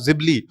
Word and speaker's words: Ghibli: लेकिन गिबली को लेके या फिर जिबली को लेके अभी गिबली भी लोग इसको कह रहा है। लेकिन इसका ओरिजिनल प्रोनाउंसिएशन होगा जिबली और जिब्ली को लेके